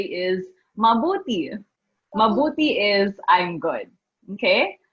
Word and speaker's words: mabuti: So it has to be mabuti. Okay, not mabudi. That's different. Mabuti.